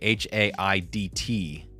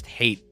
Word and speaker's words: Haidt: But Jonathan Haidt, it's spelled differently, H-A-I-D-T, but I assumed that yours was probably pronounced the same way. His gets mispronounced as hate quite often because it has an A in the name, but yours felt... I took a chance by saying Haidt.